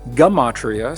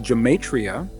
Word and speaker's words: gematria: It is called jamatria. Ge m a t r i a. Sometimes pronounced gamatria. Sometimes pronounced geatria.